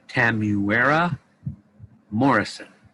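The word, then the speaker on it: Temuera Morrison: actor name uh oh i say this right tamuera morrison i believe is how it's pronounced and yes that's that's uh that's he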